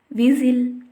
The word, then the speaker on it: whistle: T is not pronounced in most of the words when it came after S at the middle of the word. If you see the examples, whistle, Christmas, listen, etc.